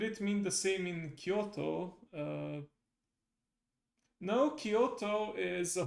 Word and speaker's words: Kyoto: Kyoto. It's a short O at the end.